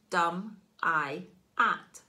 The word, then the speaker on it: Dumyat: Since then, it's become slurred into Dumyat, pronounced Dum-I-At.